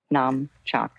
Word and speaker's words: Namchak: And Namchak is spelled N like Nancy, A-M like Mary, Chak, C-H-A-K, Namchak.